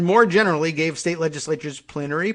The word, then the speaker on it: plenary: generally gave state legislatures plenary power or plenary as some people like to pronounce it over how they appointed